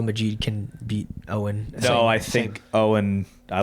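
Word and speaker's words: Eoghan: it's pronounced Owen, right?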